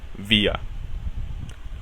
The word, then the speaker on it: wir: Ojo, si una R está al final de una palabra, esta se pronuncia como una E abierta.